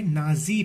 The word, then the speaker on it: Nazi: तो ये नाजी ना और सी से उठा गया है। तो जर्मनी में जो प्रोनाउंसिएशन है वो सी का जी हो जाता है, इसीलिए उसे नाजी पार्टी कहा गया।